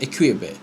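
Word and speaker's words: Équipe: Menurut berita dari Prancis, L'Equipe, gimana sih bacanya? Equipe.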